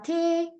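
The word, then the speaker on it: Tee: 대아가 붙었으니까 남성 명사입니다 영어처럼 T 아고 읽으시는 분이 너무 많습니다 하지만 독일어에서에는이 소리만납니다 그리고 에가 두 번 붙었으니까 길게라고 읽어 주시면 됩니다 차라는 뜻입니다 그다음 대야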